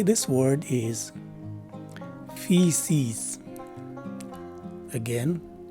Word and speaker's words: feces: the right way to say this word is feces again feces this is the sixth word in our